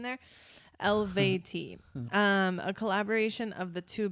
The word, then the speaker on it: Eluveitie: Okay, thank you for putting the pronunciation there. Eluveitie.